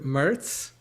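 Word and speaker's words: mirt: Rhymes with skirt.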